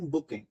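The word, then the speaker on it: bouquet: तो उस गुच्छे को ही बोलते हैं हम बुके। ठीक है, इसलिए स्पेलिंग है बुके, कहीं बोलते हैं तो इसे बोलते हैं बुके।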